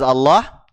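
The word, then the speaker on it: الله: fathah ada yang masih ingat ya adik-adik lafaz Allah itu ada dua cara bacanya ada yang ditebalkan ada yang ditipiskan bacanya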